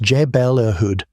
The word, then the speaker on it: Jebel Irhoud: The oldest Homo sapiens fossils we have come from Jebel Irhoud in Morocco, pronounced Jebel Irhoud, at roughly 300,000 years old.